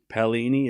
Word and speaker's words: Paolini: Paolini, it's correct. Good pronunciation.